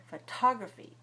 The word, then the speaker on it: photography: When we have the word photography, 4 syllables, photography is stressed on the second syllable. So we stress with a large puff of air. Photography, photography, photography.